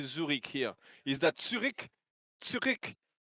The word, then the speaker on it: Zürich: How do you say Zurich here? Is that Zurich? Zurich? Zürich.